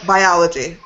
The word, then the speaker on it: biology: English is hard because it changes. Because you have, for example, biology. Biology, it falls in the second syllable.